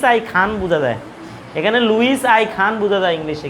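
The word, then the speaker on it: Louis: লুই icon বাংলায় বলে লুই আই খান এখানে লুইস আই খান বুঝা যায় এখানে লুইস আই খান বুঝা যায় ইংলিশে কিন্তু এটা বাংলায়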